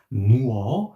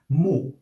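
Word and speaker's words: 뭐: So I'm not going to pronounce it as muo, I'm going to pronounce it as mo.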